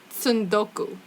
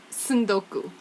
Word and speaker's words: tsundoku: word the word is son-goku Sando Sando cool it's wild TSU nd okay you like tsunami and Sudoku pretty much yeah it's yeah San Goku I watched a couple